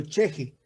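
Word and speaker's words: chixi: su concepto de lo cheje. Cheje es una palabra aymara que se escribe C-H-I-X-I.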